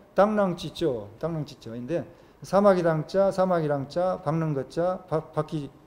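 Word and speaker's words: 螳螂拒轍: 중국어 발음으로 당랑찌쩌인데 사마귀 당자, 사마귀랑자, 박능거자, 바퀴 자국 철자, 당랑거자입니다.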